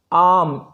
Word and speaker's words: arm: आर्म, ARM, आर्म, आर जो है silent है, ARM, आर्म मीन्स भुजा, बाँह या भुजा।